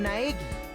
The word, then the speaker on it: Naegi: myself my name's naagi the way they pronounce Nai in the dub never stops being funny it's like eggy eggy as you can see